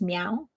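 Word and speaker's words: MEOVV: And that is how they pronounce it in their songs. It's meow, but this is two V's.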